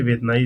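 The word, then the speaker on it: Vientiane: Then आपकी लाहौस की capital है वेतनाई। ठीक? वियतनाम नहीं है। ये वेयतनाई इस द कैपिटल।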